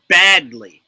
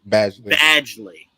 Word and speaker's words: Badgley: Penn got you and it's badly right or badly Badgley yeah yeah that's how it's spelled anyway let me say